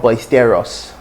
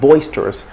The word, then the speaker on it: boisterous: word boisterous boisterous boisterous so it's not basteros but boisterous if somebody has this